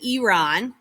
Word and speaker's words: Iran: correct way is actually iran like an e instead of an i is the correct way to say it i'm not going to